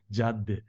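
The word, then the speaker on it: Cadde: CAD DDE and we are calling this one Jad J is I think that I heard that uh Turkish Turkish Turkish pronunciation the in Turkish Jad means way way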